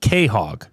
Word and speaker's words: quahog: But they pronounce it Quahog on that show. He did say pronounced Quahog.